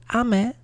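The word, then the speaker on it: 雨: Fourth up we got rain, pronounced ame.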